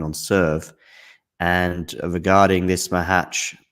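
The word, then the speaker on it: Macháč: serve and regarding this Mah hatch Mah hatch am I saying it M hatch am I getting closer yeah it was actually good I mean I think I stressed the wrong syllable slightly at one point anyway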